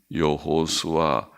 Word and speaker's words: 여호수아: 예수아 혹은 여호수아라고 읽기도 합니다.